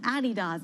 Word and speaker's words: Adidas: Adidas, or Adidas, as I'm told it's pronounced, Puma as well, and JD Sports, all higher by, we'll call it about 6% on the day.